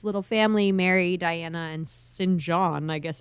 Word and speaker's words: St. John: She ends up begging for food until this little family, Mary, Diana, and Sinjin. I guess it's Sinjin. It says St. John, but it's said Sinjin.